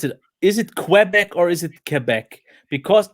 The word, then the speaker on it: Quebec: I'm betting you it's Quebec. I mean, I would say Quebec, yeah, because Quebec doesn't sound French at all.